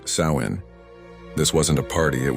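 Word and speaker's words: Samhain: They celebrated a festival called Sam Hine, pronounced Sain.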